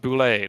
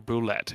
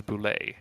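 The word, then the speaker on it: bulette: And if you're wondering, yes, it is pronounced boule, not bullet or boulette. It is boule.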